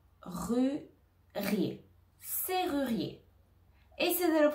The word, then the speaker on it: serrurier: r ri rier c'est ru rier C ruier serrurier etessie de le prononcer à la maison à voix haute serrurier